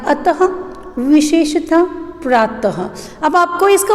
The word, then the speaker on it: अतः: ठीक है, और आहा जिसका उदाहरण है अतः, विशेषतः, प्रातः। अब आपको इसका उच्चारण करते समय में समझ में आया होगा कि यहाँ पर विसर्ग का उच्चारण करते समय ह का उच्चारण होता है।